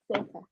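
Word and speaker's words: Sethe: So the lady I keep saying is Seth. It's actually Setha. Yeah, that's how you say her name.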